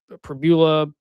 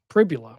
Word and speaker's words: Pribula: Um Missou's kind of, you know, you had Pbula. No, Pribbula. Pribula, right? God. Pribula. I said it wrong earlier in the show. No, it's Pria. No, it's Pria. Yeah.